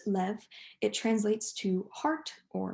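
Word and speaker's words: לב: and no so this word in hebrew it's pronounced lev it translates to heart or mind um directly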